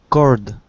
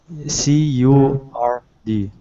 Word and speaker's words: curd: So, Milk and cord. I just translated it in Google. Is cord? it correct? It's spelled C-U-R-D. Curd.